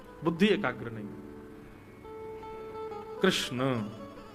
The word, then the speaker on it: कृष्ण: है बुद्धि एकाग्र नहीं कृष्ण कृष्णा नहीं कृष्ण ठाकुर जी का नाम कृष्ण रखा गया अब तो